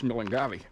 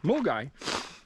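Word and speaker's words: Milngavie: but when you read the word, it's Mulungavi. But anyhow, Mulgai, which is a northern far northern suburb of Glasgow.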